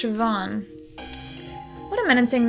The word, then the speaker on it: Siobhan: Ban? Siobhan. It's pronounced Siobhan.